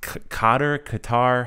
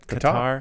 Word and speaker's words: Qatar: We have these listeners, Bahrain, China, Philippines, Qatar. How do you say that? Qatar.